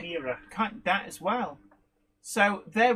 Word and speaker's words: Chimera: Right, Chimera.